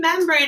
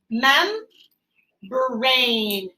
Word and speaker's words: membrane: when i read membrane i can break it up mem brain brain even though it's spelled different than the brain we're used to we see that the e is reaching over to make the a say the same so it helps us figure out what that second syllable would be okay membrane the